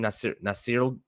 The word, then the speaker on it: Nasirildeen: Nasirildeen.